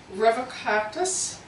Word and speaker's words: Revocatus: This is gonna be probably really mispronounced. Revocatus, that's R-E-V-O-C-A-T-U-S.